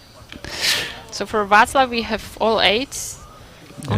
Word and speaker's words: Václav: it's 2 8s for, is that Fakla? How do you say? Václav. Okay. Václav.